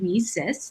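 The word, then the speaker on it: WiCyS: it's spelled w-i-c-y-s and we pronounce it we sis like we sisters because that's exactly what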